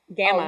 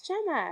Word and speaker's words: Gemma: I still get Gemma. Gamma. Oh, no, Gamma? Gamma. No, it's Gemma.